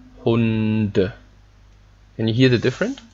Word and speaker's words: Hunde: But if there's something behind, you pronounce it normal, okay?